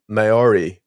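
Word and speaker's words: Māori: this name but it's going to be the mayori culture in New Zealand oh no no no you're right that's how pronounce Mai Mai yeah yeah you're right very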